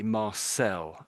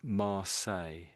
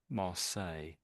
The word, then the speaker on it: Marseille: So I think some Americans might say Marcel something something like your I'm basically saying Mar that's almost what I'm saying there Marles Marles. So the the L's are basically silent pretty much. You might say Marles but the Americans might try to put the L sound in.